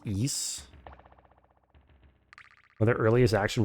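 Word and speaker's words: Ys: It's pronounced east.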